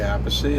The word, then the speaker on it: Appice: the last name correctly he says a piece I say apathy I'm right and then we just you